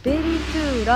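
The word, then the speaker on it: ベリトゥーラ: このロゴ、ベリトゥーラって読むんですけど、ぜひ今覚えてください。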